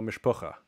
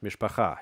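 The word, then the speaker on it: משפחה: Like if you're Jewish in America, you probably know mishpucha. So that's mishpacha here. Just pronounce it like modern Hebrew.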